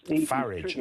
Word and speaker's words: Farage: Farage, I think, is the pronunciation. Yeah, Farage.